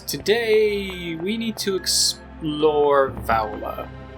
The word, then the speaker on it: Valua: we need to explore vowela or valua i suppose i really should start actually pronouncing it the way it's spelled see the problem is